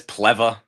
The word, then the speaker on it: Plewa: It's close enough. It's Pleva. Pleva? What's a Pleva with a W? Yep. Pleva. Listen, it's Polish.